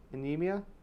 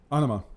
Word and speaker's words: Anima: Anemia? Anima. All right. Yeah, that's how you pronounce it, Anima.